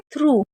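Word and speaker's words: through: थ्रू क्योंकि ओ यू को वैसे तो हम औ पढ़ते हैं। लेकिन एक वर्ड मीनिंग में उ पड़ते हैं। वो हैं थ्रू में और जी एच हमेशा साइलेंट रहता है।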